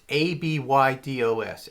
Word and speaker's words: Abydos: I'm only assuming that it's spelled ABBADOS, or maybe it's one B and two Ds. It's ABYDOS.